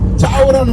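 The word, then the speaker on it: chào: 그런데 이게 짜오라는 말이 우리를 말하면 아침 조자야 이렇게 쓰는. 예? 예. 그럼 우리는 이걸 어떻게 읽어요? 조 이렇게 있잖아. 한글 우리는 아침 조. 예? 그거를 베트남에서는 발음을 짜오 이렇게 하는 거야.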